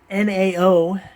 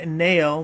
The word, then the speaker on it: NAO: Since it's all capitalized, I'm assuming you spell it out and it's not like the word NAO, but hey, we're going to call it NAO.